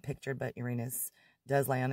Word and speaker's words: Uranus: sorry saturn jupiter and uranus or uranus some people like to pronounce it but always have just got used to that one as a kid so